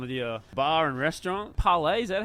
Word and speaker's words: Parley: outside the front of the bar and restaurant parlay is that how you say it is that yeah yeah parlay restaurant and sports you know we wanted to